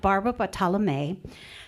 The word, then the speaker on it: Bartolome: We have Barbara Bartolome. She says that's how you say it.